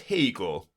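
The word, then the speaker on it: Haigha: His name is Hegel. He pronounced it to rhyme with mayor.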